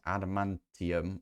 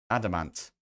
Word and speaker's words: adamant: And then we need to make this adamantium, or wait, adamant.